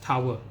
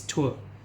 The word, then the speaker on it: tour: So this is not pronounced as tower. So this is tour.